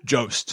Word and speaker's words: Jost: Jost.